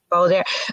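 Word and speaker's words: Balladaire: But so there's Balladeer. Is that how you pronounce it? Mm-hmm. Balladeer.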